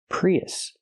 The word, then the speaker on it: Prius: When we link these two vowels, we hear y-y in the middle. Pre y Prius.